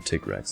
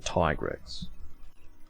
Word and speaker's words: Tigrex: Tigrex, I'm trying to force myself to call him Tigrex. That's the correct pronunciation. I'm not American. Shouldn't be saying Tigrex.